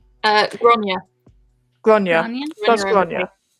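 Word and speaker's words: Gráinne: if I used these 2 here, so if I used Lorna Doone plus now how would I pronounce this? Granine? Gronya.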